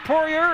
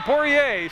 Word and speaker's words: Poirier: but I've heard it pronounced Poirier and Poirier, so I've had his mom and dad ask them, and they tell me either way.